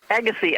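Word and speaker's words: Agassiz: animals named after Louis Agassi yes so if you have something that has that weird name it pronounces Agassi I need a life correct something like that right and we're in the Agassi Valley right now yep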